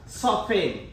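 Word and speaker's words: soften: ঠিক তেনেকুৱাকে অফেন এই t ৰ আগত কি আছে মোৰ নিয়ম মতে f আছে, যাৰ কাৰণে t টো সাইলেন্ট হৈ আছে। ঠিক তেনেকুৱাকে আৰু কিছু ওয়ার্ড আছে সফেন, ঠিক আছে লিসেন, অফেন, সফেন।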